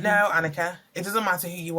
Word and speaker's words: Anyika: how it's spelled and I'm like yeah it's Annika and they're like okay